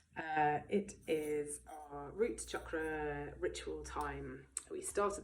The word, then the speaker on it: chakra: um the chakras are chakra means Wheels in Sanskrit and a little note on the Sanskrit pronunciation here um it's not chakra chakra is a cucumber uh chakra however is the wheel of energy that is in the